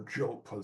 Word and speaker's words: Diop: the same way that Cheikh Anta Diop, or Diop as they pronounce it in France, revolutionized history, in the